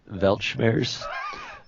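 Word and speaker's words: Weltschmerz: word for you okay I believe it's pronounced belch bears it is the mental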